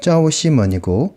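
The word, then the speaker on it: 赵西门: 조 시먼의 정확한 발음은 짜오 시먼이고 한글로 바꾸면 조시몬입니다.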